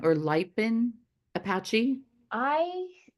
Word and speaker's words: Lipan Apache: I I've heard Lipan. it say Lapon Oh, Apache, Lapon Apache. but Okay. then I've heard other people say Lipan Apache. Mhm. So I don't know if it's either way, La Yeah.